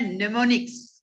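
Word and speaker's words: mnemonics: हम लोग कहते हैं नेमोनिक्स। क्या कहते हैं, नेमोनिक्स। हमने लिखा हुआ है यहां पर, देखिए इसको थोड़ा बोल्ड कर देते हैं, एम इज ए साइलेंट, ठीक है।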